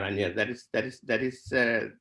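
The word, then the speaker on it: Añar: So N, and there's an A-R, Anjar. That is how I think we should write the word in English, Anjar. It's a nya sound, right?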